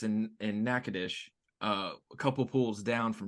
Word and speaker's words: Nacogdoches: so mind blown right now how is that pronounced nakadish there is a city in Texas just across